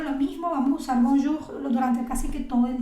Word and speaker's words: bonjour: Otra nube de palabra puede ser todo lo que tenga OU, ¿no? Que se va a pronunciar como una U, amour, pour y bonjour.